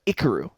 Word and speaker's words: Ikiru: didn't want to butcher but ikaru that's that's how you say it yeah I've been I've